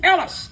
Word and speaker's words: Ellis: They'd get to my name, and it's Ellis. I said, it's Ellis, and I'm here, damn it.